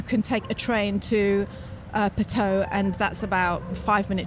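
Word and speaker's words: Puteaux: We thought it was pronounced Patou, and we keep saying Patou. So if I say Patou, that's why, because It's more like Bordeaux, isn't it? But it's pronounced Pateau, and it's like, it's a suburb outside.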